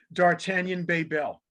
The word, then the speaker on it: D'Artagnan Bebel: So rather than butcher it up, I want to have him pronounce his name for me. Go ahead. D'Artagnan Bebel.